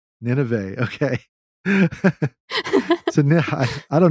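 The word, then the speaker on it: Nynaeve: had sarah connor wheel of time we had nine eve which i just learned i'm saying i've been saying wrong this whole time so how do you pronounce 90 in real life on the audiobook it's pronounced nineveh nineveh okay so now i don't know if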